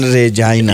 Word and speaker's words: Regina: that the city of Regina came up with. Are you ready, Rishi? One of their slogans was... Unfortunately, yes, I'm ready to. One of the slogans was Regina, the city that rhymes with fun.